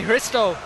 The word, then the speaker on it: Hristov: Bulgarian gangster Tony rof here we have Tony chisto uh with a silent h as we've been told he's a debut Fighter